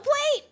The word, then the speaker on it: Yoplait: You don't pronounce the T on Yoplait? There's no way. Why would you put a letter there and then not let me pronounce it?